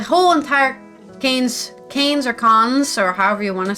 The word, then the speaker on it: Cannes: it's going to continue I think the S is silent I believe the S is even silent it's con anyways that's all you